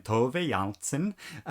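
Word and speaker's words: Tove Jansson: the great scandinavian author i like to to pronounce her name tove yansen which probably isn't the prepped way to pronounce it but uh you know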